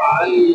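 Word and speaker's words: عين: কণ্ঠনালীর মধ্যখানে চাপ দিয়ে কণ্ঠনালীর মধ্যখানে চাপ দিয়ে কি উচ্চারণ করতে হবে আইন আইন কণ্ঠনীর মধ্যখানে চাপ দিয়ে উচ্চারণ হবে আইন তাহলে কণ্ঠনী চাপ দিব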